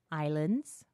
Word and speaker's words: islands: for a 100 shekels do you mean Islands wait you're telling me the S is silent rabbi what kind of language